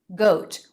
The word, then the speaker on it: GOAT: you're my bae goat we have another diphthong two positions jaw drop and lip rounding o o goat goat now the ending tea pronunciation can be a true tea goat or a stop tea goat goat goat goat make